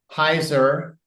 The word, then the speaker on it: Heuser: I would encourage everybody reach out to Heiser rhymes with anheiser last name spelled hu e ER